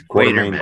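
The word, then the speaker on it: Quatermass: And the third one, I never know if I'm pronouncing it right or not. Quartermass. Quartermass. It's Quartermass.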